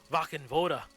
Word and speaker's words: Wachenroder: Wachenroder.